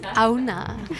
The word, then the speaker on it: Aohna: Je prononce bien Aouna.